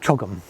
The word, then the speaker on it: CHOGM: So chief executive of the Commonwealth Summit unit um and the CHOGM it's how do how do you say we call it Chum Chum right?